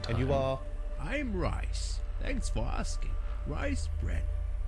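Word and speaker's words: Rhys: So is that how that name is pronounced? R-H-Y-S is Rice? I hadn't heard it like that.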